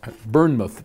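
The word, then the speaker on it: Bournemouth: awful but it's not it's spelled b-o-u-r-n-e so it's not b-u-r-n burn your mouth england so and and burn myth probably is the way they would say it so forgive me if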